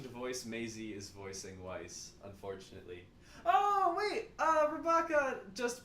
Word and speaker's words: Weiss: And Weiss is sometimes Y. Now, this doesn't work if you pronounce it the proper German way. Weiss. But it does if you are American.